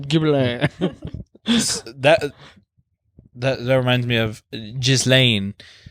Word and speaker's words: Ghibli: I think it's pronounced Ghibli. You know that famous Japanese pronunciation, Oh. Ghibli.